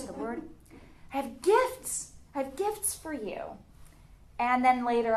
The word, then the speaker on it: Gift: I'm thinking what's the word had gifts had gifts for you and then later I found out